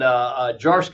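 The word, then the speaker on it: Zdziarski: stuff, but try to make it simple, and Jarsky is the way it's pronounced, but Veep Gene is how a lot of students refer to me.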